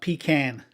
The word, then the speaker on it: pecan: Pecan, not pecan, pecan.